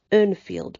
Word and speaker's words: Urnfield: Urnfield people. Depends where you go to how that's pronounced. I would pronounce it Urnfield people.